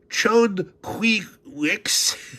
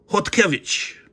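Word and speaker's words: Chodkiewicz: Now, it looks like it's pronounced chi wix, which is not. It's Polish. So, of course, that's pronounced hotic.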